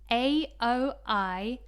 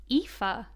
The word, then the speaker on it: Aoife: It's actually pronounced Aoife. Okay, I would not guess that, because it kind of like Aoibhe kind of reminds me of Kenobi, like Obi-Wan Kenobi.